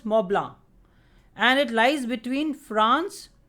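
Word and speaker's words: Mont Blanc: notice that there is a peak called mount blank and in french it is pronounced as moblang and it lies between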